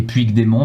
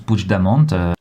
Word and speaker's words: Puigdemont: Ça s'écrit Puigdemont, mais ça se prononce Puigdemont.